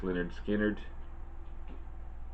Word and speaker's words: Lynyrd Skynyrd: This is Lynyrd Skynyrd, pronounced Lynyrd Skynyrd.